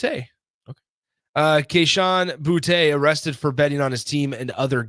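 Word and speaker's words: Boutte: betting on his team is that how it's pronounced it is okay it's boute okay uh kesan boute arrested for betting on his team and other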